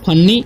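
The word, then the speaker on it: funny: तो इसे हम लोग पढ़ते हैं फनी, इसे फुन्नी नहीं पढ़ना है, ठीक है। यहाँ पर एफ से क्या होता है, फ होता है। यहाँ पर यू का उच्चारण अ ही होगा, ठीक है, ऊ नहीं होगा, ठीक है।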